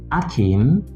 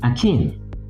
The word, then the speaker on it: akin: So it is stressed on the second syllable, not on the first syllable. And what many call akin is akin.